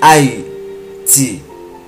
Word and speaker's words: Hayti: la seule copie originale, Haïti s'écrit H-A-Y-T-I, ce qui donne Haïti, la terre de Yah.